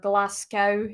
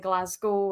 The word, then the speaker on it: Glasgow: Mostly just every now and again, I'd have little wind up videos of, like, Americans pronouncing Edinburgh that way instead of Edinburgh, or Glasgow instead of Glasgow.